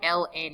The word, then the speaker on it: ln: represented by this symbol Ln is not in I've heard people pronounce that as in before it is Ln setting for natural logarithm and on your calculator